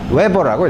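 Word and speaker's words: Weber: 쓰는데 이렇게 쓰기 귀찮으면 W 대문자 b라고 쓰고 웨버라고 읽어요 외번은 당연히 여기서 이거에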